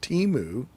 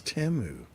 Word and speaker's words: Temu: Hey, you know what I've noticed is that we've all been saying it wrong. They've got some ads now where they are saying their name. It's not Timu, it's Temu.